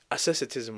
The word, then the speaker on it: asceticism: Asceticism, right? That's how it's pronounced.